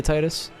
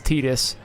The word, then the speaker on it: Tidus: very well comparatively to titus who's a much better player also for the record i realize that i'm saying titus's name wrong it is tidus but that sounds dumb